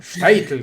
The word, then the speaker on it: Shtetl: Claro, claro, Shtetl, Bueno, como mi se bobe, escribe, obvio. claro, se escribe sin I, Shtetl, ¿no?